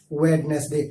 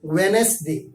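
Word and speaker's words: Wednesday: ویڈنسڈے, ہم بہت سارے بدھوار کو کیا بولتے ہیں, ویڈنسڈے. سب کوئی بول دیتا ہے ویڈنسڈے, ویڈنسڈے. اٹ از a wrong pronunciation. آپ کو بولنا وینسڈے, وینسڈے.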